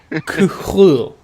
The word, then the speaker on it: Cthulhu: Sorry, that's actually, as I found out, that is because incorrectly pronounced. It's Cthulhu. It's Cthulhu. That is actually how it's pronounced.